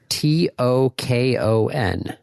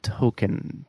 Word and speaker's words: Tokon: Spell it. T O K O N. Huh. It's a fighting game. Marvel Token.